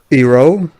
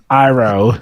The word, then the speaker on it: Iroh: Ba- Iro. Iroh.